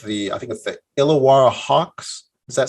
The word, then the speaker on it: Illawarra: I think with the illawarra Hawks does that sound right am I saying it right you're saying it perfect actually I'm really impressed that someone from America could pull off illawarra the first time that's